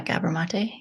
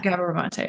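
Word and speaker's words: Gabor Maté: such as, and I don't know how to pronounce his name. Is it Gabor? Yeah, Gabor Mate. Yeah. Gabor Mate.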